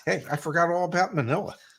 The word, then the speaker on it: Manila: Hey, I forgot all about Manila, Not today, man. which rhymes with vanilla.